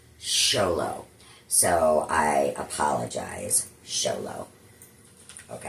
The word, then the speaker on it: Xolo: I kept calling Miguel, the actor that plays Miguel, Zolo, cuz it's spelled X O L O. And apparently it's pronounced Xolo.